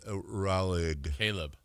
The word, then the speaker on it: Raleigh: It's Raleigh. Caleb Raleigh. The big Raleigh. The big Forrest Gumper. It's pronounced.